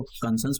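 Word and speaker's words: conscience: आप इसको पढ़ना चाहो, कंसाइंस या फिर कंसंस, जो भी आप इसको पढ़ना चाहो, ये प्रोनाउंस पढ़ सकते हो। कंसंस वैसे इसको प्रोनाउंस किया जाता है।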